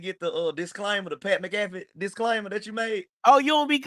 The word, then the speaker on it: McAfee: It's McAfee.